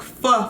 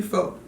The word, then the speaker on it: pho: When I say pho, I mean pho, but it's pronounced pho, not pho, pho, pho.